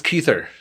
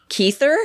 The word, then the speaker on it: Kuether: your last name is it's keither keither yep I was pronouncing it wrong yeah it's Albert Wyatt